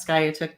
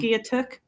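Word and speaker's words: Skiatook: that's Sky took too sky sky say it again sky so it's s k i a t o o k i was pronouncing it completely wrong what were you saying skok pronouncing it like it looks I know um and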